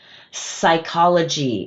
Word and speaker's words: psychology: "Psychology" is a ps so the p is silent we only hear that /s/.